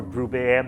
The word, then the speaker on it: Grubert: Now, The Major is Major Grubert, or Grubert, Major Grubert, if you prefer the French pronunciation, one of Moebius's characters,